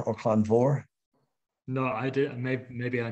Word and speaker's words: Clann Mhor: Clann Moore or Clann Vor? No, I did. Maybe I missed that. All right. Well, it's a small organization, and it's Clann Moore. Well, we pronounce it Clann Moore. C-L-A-N-N. Yeah, Clann Moore.